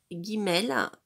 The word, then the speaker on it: Guimel: bouche le B prononcé Guimel le G comme guirlande voilà si là vous